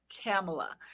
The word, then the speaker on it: Camille: easy to just say, it's like Pamela with a K, Yeah. Kamala, like the Yeah. vice president now, Kamala. That's how my name is pronounced, but it's not spelled the way it's pronounced.